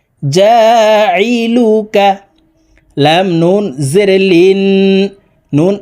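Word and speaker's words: جاعلك: জা আইন জেরি জা আইন হরফকে হালুকের মধ্যখান থেকে চাপ দিয়ে উচ্চারণ করতে হবে কারণ আইনের মাখরাজ হালকের মধ্যখান থেকে হবে জা লাম পেশ লু কাফ জবর কা জালুকা লাম নুন জের লিন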